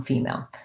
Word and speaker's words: female: And I have first syllable stress on female.